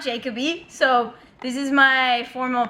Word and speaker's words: Jacoby: So Jay's last name is actually pronounced Jacoby, okay, not Jacoby.